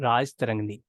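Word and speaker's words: Rajatarangini: Next important source हम पढ़ने जा रहे हैं, राज तरंगनी। राजा तरंगनी भी बोल सकते हो आप, राज तरंगनी भी बोल सकते हो इसको, ठीक है।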